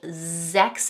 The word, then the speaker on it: sechs: The 's' making a 'z' sound at the beginning of both 'sechs' and 'sieben'.